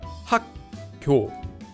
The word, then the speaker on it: 학교: Instead of saying just 학교, you're actually saying 학교. Naturally, just by saying 학교, you're already saying this sound change rule.